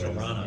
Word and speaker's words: Toronto: Toronto.